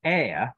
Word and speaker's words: heir: The H in that is silent. Now, heir refers to inheritance.